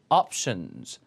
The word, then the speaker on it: options: 옵션 아니고 발음이 options. options.